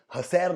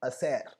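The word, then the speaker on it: hacer: तो इसका प्रोनाउंसिएशन हसैर नहीं है, क्या है? असेर, असेर। ए से स्टार्ट करेंगे प्रोनाउंसिएशन, लिखेंगे एच से लेकिन बोलेंगे ए से। इट इज असेर।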